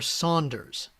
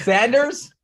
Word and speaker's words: Sanders: Uh, is it Sanders or Saunders, please? Yeah. Uh, let's go ahead and open up and share. There is no U in Sanders, Craig.